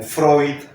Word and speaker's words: Freud: se llaman en alemán todas las palabras que llevan eu se pronuncian hoy como Freud Freud y muchas palabras